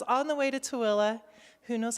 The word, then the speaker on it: Tooele: is okay so it's on the way to tooele who knows how to spell that okay and so um remember you're going